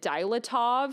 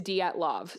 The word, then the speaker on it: Dyatlov: I think back then I called it dilatov. So apologies. I have been practicing the pronunciation and it seems like it is datav. So I'm sorry if I'm not saying that right. I know it's not dilatov.